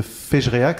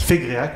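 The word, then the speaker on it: Fégréac: c'est la commune de féerac si je le prononce bien fac fegrac on dit g avec le viconte du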